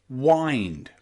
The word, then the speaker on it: wind: you would say I wind wind okay so remember that normally when you see i n d in English we pronounce the letter i there as that I find mind kind and wind wind okay okay you'll also